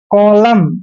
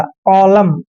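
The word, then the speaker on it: column: एन इकट्ठा आया है जब भी एम और एन इकट्ठा आता है तो एन वहां पर साइलेंट होता है क्लियर नेक्स्ट है पी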